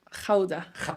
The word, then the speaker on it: Gouda: Jauda. ¿Cómo es? ¿Jauda? Jauda. Toda mi vida lo he pronunciado mal. Ah, sí. Todo el Sí, mundo aquí. Gouda. Guda, Guda.